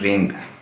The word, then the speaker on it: wring: WRONG रॉन्ग, तो WRING रिंग, ठीक है जी।